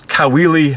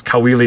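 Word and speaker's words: Caoili: my youtube channel it's kaweli music and the way you spell my name i'm filipino so the last name is spelled c-a-o-i-l-i and that's kaweli music that's the name of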